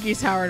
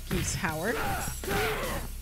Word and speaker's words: Geese Howard: at all mr howard geese howard i know your name was originally supposed to be which suddenly makes sense because the way geese is pronouncing keith so it's like oh